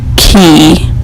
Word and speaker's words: Cay: I was like well why is it called key Tesla key if it's spelled ca why his comment was because it